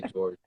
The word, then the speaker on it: Georges: My parents say, but I just say George. George.